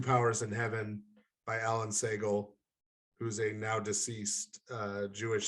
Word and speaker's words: Segal: Alan Segal. It's S-E-G-A-L is how his last name is spelled. Segal. Okay, good.